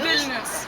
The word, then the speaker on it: Vilnius: Vilnius.